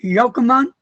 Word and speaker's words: Yochanan: welcome to another zoom and today is Mr yokomon that's it right yeah wow I'm surprised I